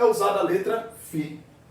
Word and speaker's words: Φ: Φ, a pronúncia é assim, Φ.